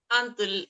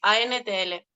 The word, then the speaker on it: Antl: Antl, ANTL.